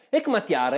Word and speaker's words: Hekmatyar: suo cognome e complesso cercherò di pronunciarlo meglio hekmatyar e era capo di un